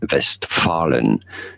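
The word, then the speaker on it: Westfalen: word for that region in German that region is not called Westfalia or west FIA or anything like this it's called vest vest Fallen vest paren so don't feel bad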